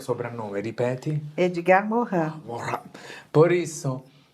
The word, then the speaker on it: Morin: Morin.